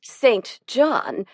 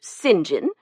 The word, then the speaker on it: St. John: Since we are speaking of names, why do you pronounce yours St. John? Don't you know it's properly pronounced singing?